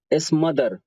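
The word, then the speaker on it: smother: इसके बाद है स्मदर। आप देखिए ना मदर का स्पेलिंग यहाँ पे MOTHER, मदर, और एस आगे लिखा है स्मदर। स्मदर पढ़ेंगे इसे, स्मदर का मतलब बुझाना,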